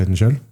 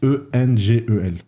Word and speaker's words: Engel: E-N-G-E-L. Ok. Je sais pas comment ça se prononce. Engel, je crois. Ils disent. Engel, ouais. Parce que quand on trouvera.